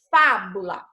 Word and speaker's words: fábula: Olhe, esse exemplo aqui, fábula, pronuncia aí a palavra fábula. Você percebe quando você vai pronunciar aí o fá, você abre mais a sua boca? Você tem que abrir ela com mais intensidade?